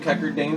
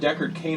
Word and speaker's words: Deckard Cain: Do you know how hard it is for me to say Deckard Cain now? Yeah. Because I've been calling him Cackerdane for 4 years. So whenever I say Deckard... Whenever I've said Deckard Cain around you guys for 4 years, I have